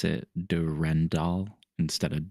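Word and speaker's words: Durendal: Yeah, that's the French way of spelling it because they pronounce it Durandal instead of Durandall.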